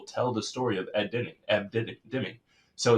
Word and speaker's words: Deming: saying his name wrong. Ed Deming. I was putting in ends there.